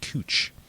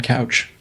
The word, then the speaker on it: Couch: They also have a street that's spelled couch but pronounced cooch, which is funny. Yeah. So, like, but they let people pass with that, calling that one couch.